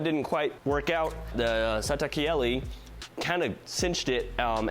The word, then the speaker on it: Satakieli: kiali by little Dynamics the satak Kelli is indeed pronounced that way because I looked it up it is Finnish for nightingale so we have another